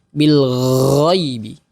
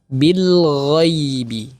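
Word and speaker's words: بالغيب: Bil ghaibi Bil ghaibi Huruf gho juga tidak terlalu berlebihan bukan Bil gaibi tetapi Bil ghaibi halus dan juga di sini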